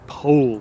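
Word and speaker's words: Powell: the Anthony po conference Anthony pole get that pronunciation right the Anthony pole conference he's the author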